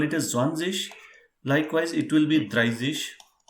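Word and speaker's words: zwanzig: so it is very very simple it is simply zwanzish zhang yes right so well you will think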